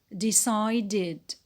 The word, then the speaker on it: decided: When it is in the past, it becomes decided, decided. De, short E, se, diphthong I, de, short E, de.